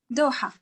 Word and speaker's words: دوحة: How do you say, what's the proper pronunciation of Doha in Arabic? دوحة.